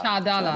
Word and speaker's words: Chadala: Chadala, I believe that's Chadala. Chadala, Yes. that's how it's pronounced.